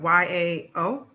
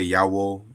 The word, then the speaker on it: Yao: how you spell Yao y a o y a w okay and then I know some people say Yao I don't know so it's Yao as uh yeah so